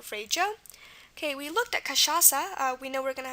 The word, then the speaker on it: cachaça: Okay, we looked at cachaça. We know we're going to have our C before the A. That's how we spell the K sound usually. CH here is an example of the sh sound.